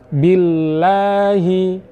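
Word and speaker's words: بالله: apanya Di sini atau Apa yang dimaksud Berat adalah yang dimaksud harus dibaca dengan kuat Billahi Billahi sehingga belum cukup kalau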